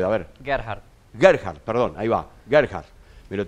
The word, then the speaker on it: Gerhard: de aligerar está bien está bien como lo pronunció usted a ver qué hará heart gerhard perdona iba a cargar pero tengo que aprender